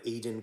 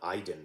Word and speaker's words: Aidan: We have Aidan Quinn. I think that's how you say his name. It's not Aiden, right?